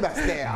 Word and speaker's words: Basse-Terre: Il faut dire, faut prononcer Basse-Terre.